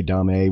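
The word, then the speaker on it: Domme: But, you know, Dom A, it's actually pronounced Dom the same as a male, but it's D-O-M-M-E. So people say Dom A when speaking to differentiate them.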